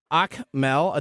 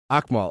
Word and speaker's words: Akmal: connecting with us on the Comcast stream Mona akmel did I get that right I I I